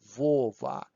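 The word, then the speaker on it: Вова: name say it loudly pronounce it loudly vova it's really it's not b anymore okay please do it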